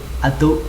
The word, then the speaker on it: atu: Cái này đọc là atu không phải là azu nhá, atu rem.